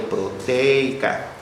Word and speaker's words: proteica: en la cadena proteica Ah proteica no entonces lleva acento en la e verdad sí Por eso digo proteica bueno Entonces qué es